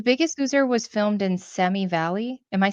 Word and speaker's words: Simi Valley: The Biggest Loser was filmed in Semi Valley. Am I saying it wrong? Simi Valley?